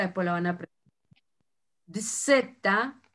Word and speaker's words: zeta: Dzeta, y la pronunciación para nosotros es ds, nada más.